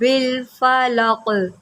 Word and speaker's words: الفلق: قل اعوذ برب الفلق۔ قاف حروف قلقلہ میں سے ہے، جب یہ یہاں پر وقف ہوگا تو قاف جو ہے وہ ساکن ہو جائے گا، تو یہاں پر ہم قلقلہ کریں گے۔ کس طرح کہ اس کو ہلا کر پڑھیں گے، اس کو لق نہیں، لق لق۔ قل اعوذ برب